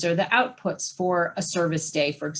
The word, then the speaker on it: CERVIS: in particular, but Volgistics, Service, which is spelled CERVIS, Better Impact.